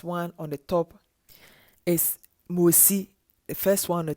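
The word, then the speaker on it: משה: name saying Moses, but in Hebrew it's a Moshe. It's Moshe or Moshi.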